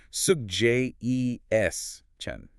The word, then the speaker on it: suggestion: S U G G E S T I O N Similar to actually, there is a hidden ch sound here. Sug j e s chen.